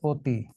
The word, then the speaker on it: অতি: এই অতি কেন অতি হয়? এই যে শব্দের শুরুতে অ আছে তাহলে আদ্য তারপরে কি আছে রসই আছে এজন্য অটা এখন ও হয়ে যাবে উচ্চারণ হবে অতি নিয়মটা হল এটা একই